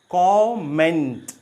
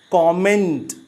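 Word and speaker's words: comment: सो the right pronunciation of this word is कॉमेंट, नॉट कमेंट। कमेंट एंड कॉमेंट, आप इन दोनों के difference को समझ सकते हैं। ये कॉमेंट है, ये कमेंट नहीं है।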